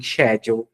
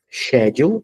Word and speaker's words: schedule: que pode ser também schedule. Então, é interessante. Esse verbo tem duas leituras, né, duas pronúncias. Schedule, ou se não, schedule.